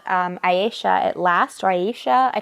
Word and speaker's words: Ayesha: It's called Aisha at Last, or Aisha. I don't know how to pronounce it. It's Ayesha.